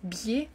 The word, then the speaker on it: biais: informations par le public un un BIA même si écrit B ça se prononce biaia c'est un nom masculin